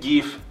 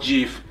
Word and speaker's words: GIF: gifesque it's pronounced GIF not JIF, and by the way